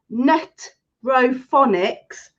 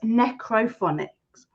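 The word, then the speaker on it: necrophonics: um we have been saying net ronics since we've started as you know it's necro phonics just look the other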